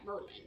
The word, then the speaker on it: Maryland: come to realize that some natives pronounce madeleine as mermaid just like that merlin so the city council